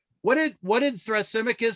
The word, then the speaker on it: Thrasymachus: what did what did thrasymachus say uh justice was that's how you pronounce his name thrasymachus he said justice is